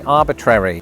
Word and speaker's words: arbitrary: Instead of military, I say military. instead of arbitrary. I say arbitrary as in chat GPT